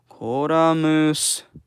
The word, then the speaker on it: Columns: Hey, here we have Columns. Koramus. That's the Japanese pronunciation.